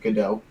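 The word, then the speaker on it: Gadot: a couple things uh first of all it's pronounced godot i know i it up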